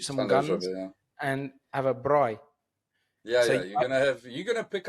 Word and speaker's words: braai: But I remember when I first started talking to Z and Josh, I was just saying braai. But now, whenever I say braai, I make sure I say it correctly and say braai.